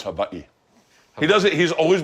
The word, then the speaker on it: Hawaii: It's Hawaii.